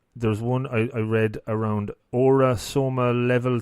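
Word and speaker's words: Aura-Soma: There's one I read around Aura Soma Level 3 Practitioner. Is that pronounced right?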